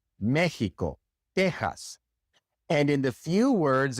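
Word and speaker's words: México: connection examin but there are a lot of place names especially in Mexico in which the X is pronounced like an H in English Mexico and in the few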